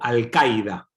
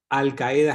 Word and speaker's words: Al-Qaeda: O Al-Qaida, depende de cómo lo quieran pronunciar. Al-Qaeda es más castellanizado, Al-Qaida es más sonido árabe, pero es una organización